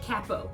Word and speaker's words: capo: if you said capo 100% correct good yeah it's spelled c.a.p oh so some people might think to call it capo which is often times what I'll say just